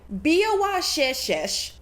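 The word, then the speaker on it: Biawacheeitchish: Okay, how the heck do you pronounce her name? Biawashishish.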